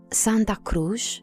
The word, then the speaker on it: Santa Cruz: Santa Cruz, as the Portuguese people pronounce it, is a state of mind, not a place packed up with holiday makers.